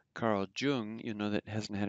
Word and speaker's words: Jung: everyone who says carl jung you know that hasn't had any german um but um so the j is already pronounced like a y a big difference um